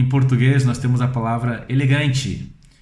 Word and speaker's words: elegante: Mas não é elegante, é elegante. Elegante.